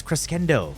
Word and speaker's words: crescendo: on melee Crescendo and people trying to teach me how to pronounce Crescendo did you guys go to school it's cresendo but then there's this